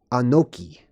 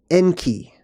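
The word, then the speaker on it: אנכי: and what that says in modern Hebrew they pronounce it anoki but it can also be pronounced enki okay now let's look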